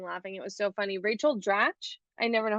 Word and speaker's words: Rachel Dratch: Rachel Dratch, I never know how to say her name.